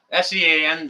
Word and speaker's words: Sean: Diane, it's spelled with a W. S-E-A-N, that would be Sean in Alaska.